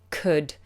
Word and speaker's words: could: So, the word could, it's pronounced as if it's written c u d. Could. Could.